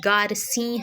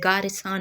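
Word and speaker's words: Garcin: افتخار حسین کے بموجب نام کا درست تلفظ گارسیں ہے، گارساں نہیں ہے۔ اچھا جی، ڈاکٹر اسپرنگر،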